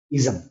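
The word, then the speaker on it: -ism: इसको बहुत लोग इज्म पढ़ते हैं जो कि गलत है। इसका उच्चारण होता है इज्म।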